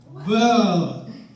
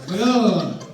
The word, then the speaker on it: Villella: And somebody said, well, how to pronounce his name is you start to say the, and then you shake your head. Villella. Okay. Villella.